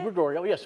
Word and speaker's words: DeGregorio: But this is still pronounced the same for the market? DeGregorio, yes.